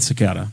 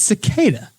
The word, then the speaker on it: cicada: I I'm gonna I'm going to go with sakata sakata that's not is that even do they even say it like that in New York how would you pronounce the word it's cicada you're drunk all right Zach final thoughts anything